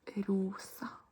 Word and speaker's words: rosa: Then we have pink, which is rosa. Rosa. Rosa. Try to roll your R.